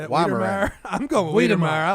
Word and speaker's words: Weimaraner: Weedemeyer or a Weimaraner, whichever.